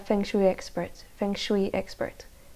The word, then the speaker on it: feng shui: around the mansion and she said she said Feng Shui experts feng shui expert how do you pronounce our friendship song Shui from Fung Shui okay so she's a Fung Shui expert so